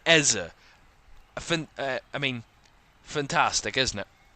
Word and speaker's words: Eze: and a Barry ezer there's a difference it's it's going to be minimal of a difference in the other pronunciation but there is a difference there's an Essa and an ezza I mean fantastic isn't